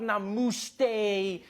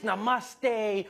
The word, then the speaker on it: namaste: on like dude it's not namaste it's namaste who messes up namaste